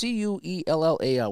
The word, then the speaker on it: Cuellar: the Cleveland pitcher, I have a hard time pronouncing his name, is Mike Seller or Queller. It's Cuellar.